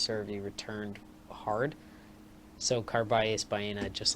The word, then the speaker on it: Carballés Baena: Now, Carballés Baena, the 101st seed, Miss Scusi, took out Denis Shapovalov in 5 sets.